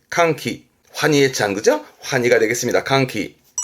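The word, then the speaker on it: 歓喜: 발음은 캉키 캉키 환이의 그죠?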